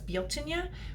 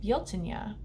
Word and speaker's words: Bealtaine: me pronounce it as Bo Tanya which is the proper pronunciation it looks like Beltane when you see it in the English language but guilt Ania is the proper pronunciation